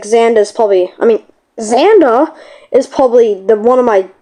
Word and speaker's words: Xander: And the only way was to release Xander. His name is spelled with an X, so I call him Xander. But it's Xander. So he released him from the cage.